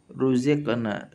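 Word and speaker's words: رُزِقْنَا: Sekarang tafhim karena harokatnya dhammah pada ruziqna surat Al-Baqarah ayat 25. Qalu hadzal ladzi ruziqna min qabl. Kita fokus di lafaz ruziqna, ru ya, tebal di sini ya, tafkhim. Ra-nya tafkhim. Ruziqna.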